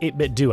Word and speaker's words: 8BitDo: But today I want to talk about the 8BitDo, which it is pronounced 8BitDo.